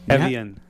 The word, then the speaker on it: Evian: Evian.